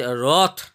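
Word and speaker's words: wrought: পারি সেই বরফ হ্যাজ রথ ডব্লিউ সাইলেন্ট থাকবে এখানে রথটা উচ্চারণ করতে হবে দেখো নিচে রথ মিনিংটা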